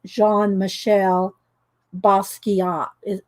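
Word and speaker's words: Jean-Michel Basquiat: his name right there and i think it's pronounced jean michelle basquiat french so okay so there's that one and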